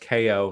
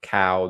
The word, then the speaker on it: Kao: role of ko and yes it is pronounced ko not cow the kangaroo he awakens